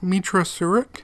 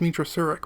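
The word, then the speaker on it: Meetra Surik: We play as a character known as the Exile, Mitra Surik. I want to say her name is Mitra Surik, but I'm having such a hard time pronouncing it.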